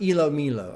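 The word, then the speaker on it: ilomilo: Is pronounced Elo Milo.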